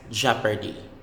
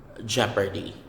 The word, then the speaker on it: jeopardy: almond or ammon next jeopardy jeopardy jeopardy you don't pronounce the o the letter o jeopardy again silent letters